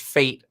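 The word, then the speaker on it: FAIT: what's even crazier is the acronym is pronounced fate like this is fake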